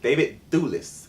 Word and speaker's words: David Thewlis: David Thewlis.